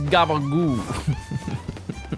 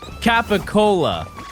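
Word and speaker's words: capicola: I believe the the actual name is Capacola. I don't know how to spell it, but they but if you're from like Jersey or like Staten Island, you just say Gaboo.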